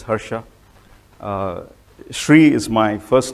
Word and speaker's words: Harsha: who am I uh my name is Shri Hara you pronounce it as Hera uh Shri is my